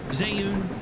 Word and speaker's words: Zayun: Zayun is how you say my name.